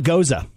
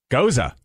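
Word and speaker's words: Gose: of oh do tell it's called a goza goza goza exactly it's actually it's spelled go o e it's a German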